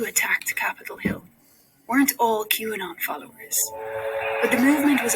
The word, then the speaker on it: QAnon: QAnon, that's how you say it.